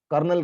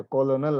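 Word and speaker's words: colonel: Lieutenant का spelling जैसे है, कर्नल का स्पेलिंग जैसे कोलोनल आता है, हम लोग तो उसको बोलते नहीं कोलोनल, कर्नल ही बोलते हैं।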